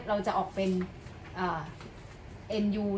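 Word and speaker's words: nü: จะ ออก เป็น อ่า nu เนี่ย เรา จะ อ่าน ว่า นิว แล้ว กัน นะ คะ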